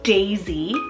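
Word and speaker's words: Daizee: the list okay so for this next one Daisy d-a-i-z-e-e I am so obsessed with this spelling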